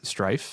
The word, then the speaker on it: STRF: Strategy also announced this perpetual preferred stock offering, STRF, which they pronounce as Strife.